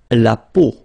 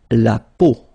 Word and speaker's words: la peau: La peau, la peau, okay, remember this combination of three vowels, well, it's quite rare in French, but then, well, you can see it, but then, so the sound that you will have to pronounce when you've got these three vowels combined together, it's the sound O. Okay, so really simple, O, okay, so you get la peau, okay, la peau.